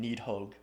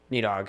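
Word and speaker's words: Níðhöggr: Protector of realms, or there's a proper way to pronounce it. I think there's a th sound in there, but it's for our purposes it means Needhog. Yeah, Needhog.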